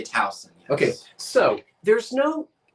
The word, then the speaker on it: Towson: Now, is it Towson or Towson? Towson. I didn't know that. See, it's different everywhere. But in Maryland, they call it Towson. We say Towson.